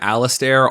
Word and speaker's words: Alistair: So Jer, Blair, and Alistair, all rhyming with bear, of course, are 3 siblings